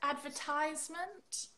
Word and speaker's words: advertisement: so you would say and how would you say it was the stress I'll add vert iseman advertisement I see cuz I I've heard advertisement I've heard like the stress in different ways in the UK we would say advertisement advertisements oh it's quite different